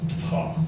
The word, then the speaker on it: Ptah: Except that it doesn't shine on the one on the left because, you know, pronounce it the way it's spelled, Ptah. P-T-A-H.